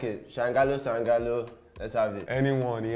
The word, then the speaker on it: Sangalooo: This is another episode of Sangalooo. That's how I pronounce it. How do you pronounce it? Sangalooo, bro, but either way you like it. Sangalooo.